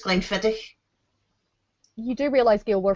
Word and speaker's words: Glenfiddich: see it's going feather it's not glymphatic it's Glenfiddich you do realize the